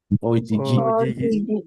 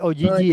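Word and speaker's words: お辞儀: Ojigi. Bukan Oigi ya. Ojigi.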